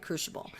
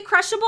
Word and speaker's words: Crucible: So basically, this will allow you to focus on the Netherlight Crucible. I don't understand what's being... Did I say crushable? I pronounced it right. Fuck you. No, you didn't. I said crucible.